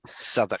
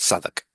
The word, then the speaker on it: Southwark: on the story, as well as the correct pronunciation of the title. So this is Sherlock Holmes, the Southwark.